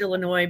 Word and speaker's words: Illinois: say Illinois and I know the state is pronounced Illinois but it's ill to some people don't Americans